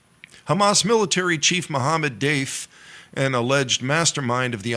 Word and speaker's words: Deif: Security Agency shinb said Dave's Fen de daf's death was confirmed earlier on Thursday citing an intelligence assessment Dave and that's spelled deif had survived at least